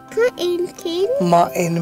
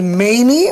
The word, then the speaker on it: mane: Ma-in mane. Do you pronounce it as many or main?